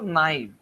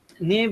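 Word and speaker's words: naive: নাইভ তো আমরা জানি তাই না, NAIV, নাইভ, নেইভ, আপনারা যেটা উচ্চারণ করেন, হ্যাঁ। নেভ ব্যক্তি কি করে? নেভ আমরা কাকে বলি, বা নাইভ আমরা কাকে বলি? নাইভ উচ্চারণ করে, এটাই বেটার।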